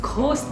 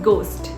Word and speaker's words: ghost: क्या आप जानते हैं GHOST को घोस्ट नहीं कहते हैं, इसको कहा जाता है गोस्ट. So never say घोस्ट. एच यहाँ पे साइलेंट होता है.